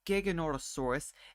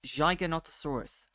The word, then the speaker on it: Giganotosaurus: to me stuff like it's not gorosaurus it's Giganotosaurus learn Len see see it